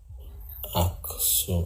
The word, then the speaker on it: Aksum: Aksum.